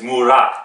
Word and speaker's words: Murat: Just for interest, in Turkish, when you pronounce a name, you put the emphasis on the second syllable. So it's not like I said yesterday and he got really irritated, Murat. It's not like that, it's Murat, and right?